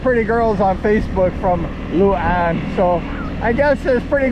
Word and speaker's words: Luan: And it's just a windy road going out of Tibiao, headed towards Barbosa and Luan.